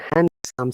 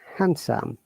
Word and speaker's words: handsome: it sandwich and also hand some similarity okay remember that this is very important for us to know the correct sound sandwich and handsome in both words d is silent so it's sandwich handsome